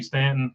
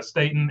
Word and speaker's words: Staton: Mike Stanton and uh I keep wanting to call you Stanton but a Staton and I appreciate I